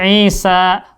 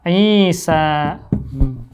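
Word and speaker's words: عيسى: Nah, sama seperti Isa. Dibacanya panjang loh. Isa.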